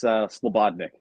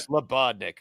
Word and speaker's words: Slebodnick: It's Slebodnick. With the bod, like body. Yeah. Slebodnick.